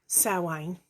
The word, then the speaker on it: Samhain: a lot of people call wayne spelt samhain s-a-m-h-a-i-n some people call